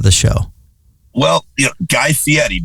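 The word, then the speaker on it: Fieri: show well you guy Fetti by the way is how you actually pronounce his name best shape he's ever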